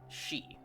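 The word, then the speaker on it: 四: It's also worth noting that in Japan, uh, the number four is pronounced in the same way as deaf. She. So basically the way you pronounce for she as in sh hi if you were to spell it in English is pronounced the same way as death.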